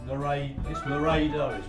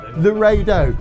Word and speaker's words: Laredo: Laredo. Laredo.